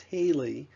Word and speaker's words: HALE: Health Adjusted Life Expectancy, HALE, pronounced HALE, is life expectancy adjusted for disease and disability.